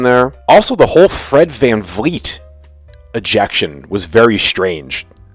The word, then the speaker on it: VanVleet: For my whole life, or ever since I became aware of Fred, I always thought it was Fred VanVleet with an F. And only a couple days ago, I'm like, VanVleet with a V.